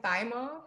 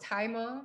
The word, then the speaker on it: thymol: the planet itself is high in thymol or taiwan depending on your pronunciation but if you think about the herb thyme that's exactly what it smells like it is a